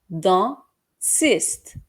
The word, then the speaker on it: dentiste: dentiste, DEN এর উচ্চারণ হবে দন, টি উচ্চারণ হবে এখানে চ আর ইস্ট এর পরে, সো এটা হবে dentiste.